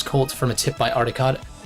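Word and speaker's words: Arikado: Got into this cult from a tip by Aricado. Aricado. I can't pronounce it correctly, but it's literally meant to sound like Alucard.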